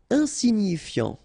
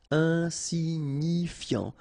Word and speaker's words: insignifiant: Insignifiant. Okay, final T not pronounced, so you've got this IAN, ian, so F before, fiant. Insigni, okay, remember, GNI, ni, insignifiant. Insignifiant.